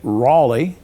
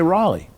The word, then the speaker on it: Raleigh: Some folks say Raleigh. Some say Raleigh. How do you pronounce it, Ogie?